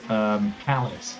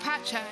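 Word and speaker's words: Pace: of this broadcast, Josh, you called it Autodromo Jose Carlos Palace. Yeah. And I was thinking, no, that's Caesar's Palace. That's next time. It's pronounced Pache.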